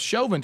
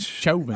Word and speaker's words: Chauvin: our show yeah because shelving to me sounds like a japanese steakhouse but but but it looks like chocolate yeah that's um cha yeah so now you guys have me saying but shoving i got it if